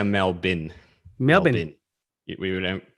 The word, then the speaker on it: Melbourne: you say it melbourne no yeah we say mel bin melbourne we would pronounce it say it out loud melbourne yeah